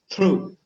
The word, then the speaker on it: through: True.